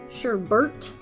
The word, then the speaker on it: sherbet: As an aside, sherbert is now technically an accepted spelling and pronunciation, but depending on where you live, that might be hotly contested.